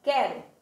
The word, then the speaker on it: quero: Quando eu digo quero, o Q e o U estão juntos, mas eu não pronuncio o U, certo?